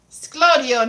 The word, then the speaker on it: sglodion: Sglodion is chips. Sglodion with a G.